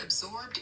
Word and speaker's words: absorbed: The word absorbed is pronounced like this, at B-zorb-D. Here is a simple way to practice. A-B sounds like up. Zorb rhymes with orb. Absorb. D at the end.